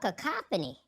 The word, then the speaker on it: cacophony: He was saying it wrong all day. But it's called cacophony. That's right, cacophony.